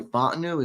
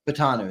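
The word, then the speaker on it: Fautanu: they liked last year, I think it was Troy Fontenot. Is that right? Fatano. Patanu, that's right. I always pronounce his name wrong.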